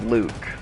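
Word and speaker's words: Leuck: My middle name is Luke, but it's spelled L-E-U-C-K. Yeah, it's French because it's my mom's maiden name. Like my mom's maiden name was Luke, but it was L-E-U-C-K.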